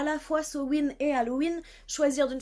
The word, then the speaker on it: Samhain: Samhain, donc voilà, Samhain, ce qui s'écrit sa main, ça se dit Samhain, parce que pourquoi est-ce qu'on prononcerait comme ça s'écrit? Le gaélique, c'est ça en fait. C'est des lettres qui ne se prononcent pas du tout normalement.